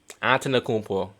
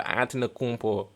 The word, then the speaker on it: Antetokounmpo: Antetokounmpo. Yeah, you gotta be about. If you want to be a basketball fan, you gotta know how to pronounce these names, bro. Antetokounmpo.